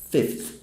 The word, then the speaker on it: fifth: Pronúncia é fifth.